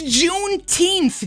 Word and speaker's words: Juneteenth: because you might end up getting killed it's juneteenth jesse june 18th and am i really teaching